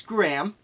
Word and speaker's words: Graeme: It's spelled Graeme, and the interweb told me it's Graham.